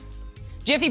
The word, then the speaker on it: GIF: of the looping image says it's pronounced with a soft G like the peanut butter